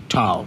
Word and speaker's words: tau: by the greek symbol tau or tau tau that's how you say it it's a vector